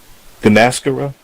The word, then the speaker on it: Gunasekara: Ladies and gentlemen, that is Mandy Gunasekara. I know I'm saying it wrong again, but I'm gonna get it. It's Gunasekara.